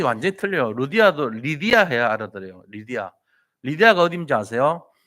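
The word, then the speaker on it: Lydia: 세운게 아니고 거기서 루디아라는 여자를 만나요 루디아의 영어식 발음이 뭔지 아세요 미국 가가지고 루디아 이러면 못 알아들어요 루디아가 누구냐 그래요 아니 뭐뭐 루디아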